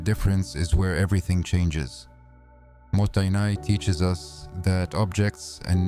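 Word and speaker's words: もったいない: The word is motainai, pronounced mottainai.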